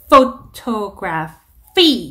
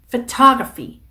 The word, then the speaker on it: photography: ph 발음은 f 발음으로 해주시면 됩니다. 그래서 photography 이렇게 ph 두 번 photography 하시는 거고.